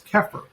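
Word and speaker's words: Xeper: the living idea of the egyptian verb that we pronounce kefir in the temple to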